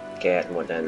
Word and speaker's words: Kaer Morhen: Kaer Morhen. Rosszul fordították a magyarba, ez Kaer Morhennek ejtik inkább.